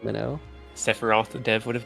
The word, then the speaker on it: Mino: So I shortened it to just MINO, and that's the story. I mean, That's why I thought it was pronounced Mino, because it seemed like a Japanese name to me. That's Imagine how hard pronounced Minnow.